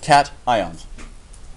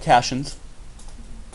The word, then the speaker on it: cations: are called these are called cat ions cations okay now they're not called Cashion's okay yes they're spelled in a way that you could pronounce this Cashen but that's the same